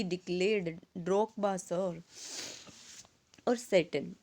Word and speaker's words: Tsetan: और सेटन, TSETAN, सेटन देखो यहाँ पे टी है वो क्या रहेगा, साइलेंट रहेगा बच्चे, सेटन, हम टी साइलेंट रखेंगे।